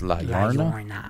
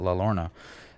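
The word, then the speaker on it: La Llorona: So next we have La Lorna, which is actually it's 2 L's, so it's supposed to be pronounced La Lorna. Yeah, but people call it La Lorna.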